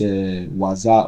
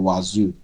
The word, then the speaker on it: Wazuh: Kó tó di pé mo máa lọ ẹ jẹ́ kí n sáré explain a little bit about this Wazuh or Wazuh. So mama pronounce ẹ̀ bẹ́ẹ̀ interchangeably.